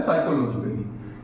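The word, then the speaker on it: psychologically: यहाँ देख लें कि जब हम साइकोलॉजिकली बोलते हैं तो पी साइलेंट रहता है, इसको एस से पढ़ा जाता है, इसलिए हम इसको पढ़ते हैं साइकोलॉजिकली।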